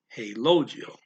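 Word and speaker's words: relógio: portuguese um you got there's an accent over the first o so you gotta stress that syllable hey logio and uh that means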